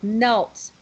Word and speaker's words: knelt: a strange word because we don't say the k right we don't pronounce the k so it just sounds